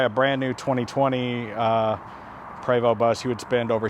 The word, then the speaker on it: Prevost: research the prevost bus p-r-e-v-o-s-t the st is silent prevost it's a french company a lot of great